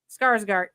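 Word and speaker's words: Skarsgård: guy Empire then Alexander I am not gonna pronounce his last name right Shard scarg guard Skarsgard there you go that guy one of his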